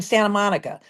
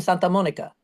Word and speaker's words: Santa Monica: They don't say it's in Santa Monica. They go, it's in Santa Monica. Because they say it right, because that's the way it's supposed to be said.